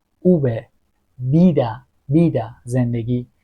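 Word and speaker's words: vida: حرف بعدی اوب اوب ببین یه صدایی بین ب و میده اوب بیده بیدا زندگی بنتانا پنجره وث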